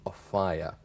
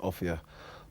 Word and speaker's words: Offiah: Martin, is it true that um although everyone pronounces your name Aaya, it is in fact something completely different. Yeah, I suppose uh my name the correct correct pronunciation of my name is Afia, but I suppose when you see it written down, it does uh look like a fire and that's what I've been known as.